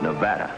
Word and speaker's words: Nevada: nevada by the way that's pronounced nevada i notice you give it the broad ah i prefer it to a dreadful flat only the dreadful flat air is correct among the natives perhaps i just thought